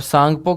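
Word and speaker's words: Tsangpo: और सांगपो की spelling T से शुरू होगी। टी साइलेंट होगा।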